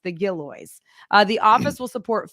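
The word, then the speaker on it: Gillioz: how you say it that is how you pronounce the gillo uh the office will support film and television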